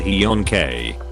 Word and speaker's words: HJNK: My girlfriend speaks fluent Norwegian and told me how that would be pronounced. Kind of a hjonk.